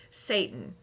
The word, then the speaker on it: Seyton: You can't tell me Shakespeare did not mean anything by naming Macbeth's servant Satan. It is pronounced like that.